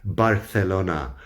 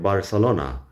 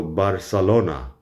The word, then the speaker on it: Barcelona: But the Catalan pronunciation of Barcelona is more like Barcelona. The C is the S sound because they don't do the Spanish lisp. And the vowels are all a shorter vowel except for the O. So Barcelona is apparently how you're supposed to pronounce it, approximately.